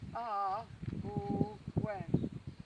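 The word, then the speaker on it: Awen: So the Arwen is said in 3 syllables, which is Ar, O, Wen, stretched out.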